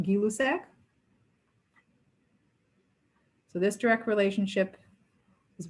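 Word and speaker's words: Gay-Lussac: the other increased directly the scientist's name was guy lucec or properly pronounced gilusac so this direct relationship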